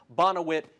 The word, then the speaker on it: Bonowit: I've pronounced it Bonwit many times. I apologize. Bonowit. He's got 381 yards already.